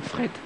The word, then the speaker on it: frites: Et je pense que ce soir, on va aller manger une bonne frette avec lui. Une frette. Une bonne frette. C'est une prononciation belge.